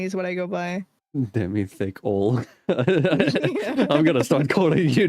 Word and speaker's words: Demythical: It's supposed to be Demythical, like you said it perfectly.